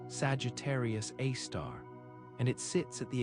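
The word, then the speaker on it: Sagittarius A*: It's called Sagittarius A, pronounced Sagittarius A star, and it sits at the exact center of the galaxy, the point around which everything else orbits.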